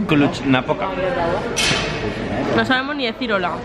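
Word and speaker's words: Cluj-Napoca: El sitio se pronuncia Klutschnapoca. Klutschnapoca.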